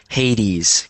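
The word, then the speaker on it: Haitians: So, it's pronounced Hades, cuz it's uh it's it belongs to Haiti. It's possession. So, it's Hades. Hades.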